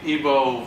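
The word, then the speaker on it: Igbo: sometimes felt IV oh there's no G the G is silent here but they're made in English so initially ebo were thought to be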